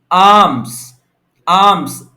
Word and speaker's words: alms: आर्म्स L silent है इसके अंदर।